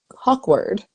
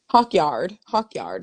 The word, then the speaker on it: Hawkyard: How do you say this lady name? Hawkward. Hawkyard. Sorry, Jennifer. Hawk too? Uh. No, no, Hawkyard, Hawk Hawkyard.